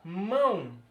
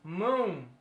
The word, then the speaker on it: mão: Mão. Você percebe que a pronúncia é pelo nariz. Mão.